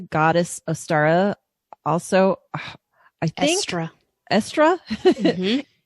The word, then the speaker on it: Eostre: Also, I think Estra. Mm-hmm. It's spelled kind of oddly, so it's a little intimidating to look at.